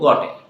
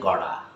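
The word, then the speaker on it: got a: নো গটে, no, cancel গটে। গটে you have to design love this part, you have to সে গড়া। কি বলবে? গড়া ইজ রাইট ওয়ার্ড। গড়া, টি এর উচ্চারণটা ডি হয়ে যাচ্ছে, কোথায় কোথায় হচ্ছে আমরা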